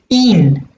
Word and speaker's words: ihn: I need to get a pronoun to suit den, and it's ihn. I-H-N. I-H-N. So you know that the masculine accusative has to end in n. So you have ihn for the pronoun for den.